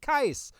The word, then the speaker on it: Keiss: And that is Keiss. And that's how you pronounce it, Keiss, from Final Fantasy, The Crystal Chronicles, which is what we have our podcast named after.